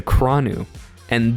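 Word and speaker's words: Kranua: Now, even more special forces than this is the Kronu. And this is like a giant Everyone look at look at the picture here. Okay, really quickly. It's pronounced kronua.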